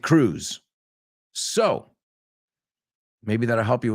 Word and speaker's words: Cruz: So Cruz, like Penelope Cruz, or what's her sister, Monica Cruz, we pronounce it Cruz.